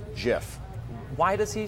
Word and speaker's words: GIF: actually insists it's pronounced jiff why does he say that I don't know why you said it's pronounced jiff like the peanut butter no because it's it's